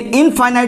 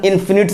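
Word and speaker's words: infinite: ठीक है, जिसका सही प्रोनाउंसिएशन इन्फिनिट सेट होता है। हम लोग इनफाइनाइट इनफाइनाइट बोलने लगते हैं, इन्फिनिट होता है।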